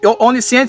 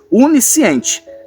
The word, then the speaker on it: onisciente: E lembrando a você que esse onisciente aqui é com o, viu? Tem pessoas que olham e fazem essa pronúncia aí com u. Unisciente, tá errado.